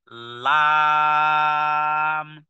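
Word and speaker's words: لام: সাথে লাগিয়ে বলতে হবে লাম লাম জিহ্বার আগা সামনের উপরের হ্যাঁ সামনের উপরের দাঁতের গোড়ার সাথে লাগিয়ে বলতে হবে লাম লাম যেমন লা ইলাহা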